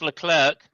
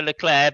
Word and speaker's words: Leclerc: I was so excited because our man, the pastry, none other than Charles Leclerc, or Leclerc, depending on how you wish to pronounce it. I prefer Leclerc because that sounds like a pastry.